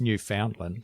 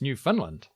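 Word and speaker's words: Newfoundland: the first thing cuz I've always thought it was New Foundland of course you did and apparently I've been saying it wrong cuz when you're from New Finland it's New Finland which is up there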